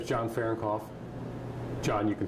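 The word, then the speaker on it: Farrenkopf: Say your name and spell it for the camera. My name is John Fahrenkopf.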